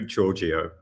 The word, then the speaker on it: Georgiou: Giorgio. Giorgio. Okay. It's with a soft G, not a hard G.